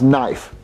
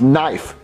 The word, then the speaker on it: knife: Well, Jeffy, it's pronounced knife. No, it's not. There's a K, so you pronounce it knife. Well, Jeffy, the K is silent.